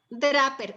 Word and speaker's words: Draper: El libro se llama así, La inteligencia espiritual, y el autor es Brian, B-R-I-A-N, Brian Draper, así como se pronuncia, D-R-A-P-E-R.